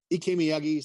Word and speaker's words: Ikemi: Ikemi Sensei.